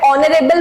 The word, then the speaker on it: honorable: Because जब मैं इसको प्रोनाउंस कर रही हूं, जब मैं ऑनरेबल बोल रही हूं, तो साउंड किसका आ रहा है?